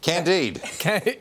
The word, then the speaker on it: Candide: Candide. Indeed. Indeed. Is that the right pronunciation?